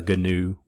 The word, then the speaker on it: GNU: So it's pronounced GNU. So that's why I said, you might have noticed I said GNOME earlier. That's because that's a GNU desktop environment for Linux.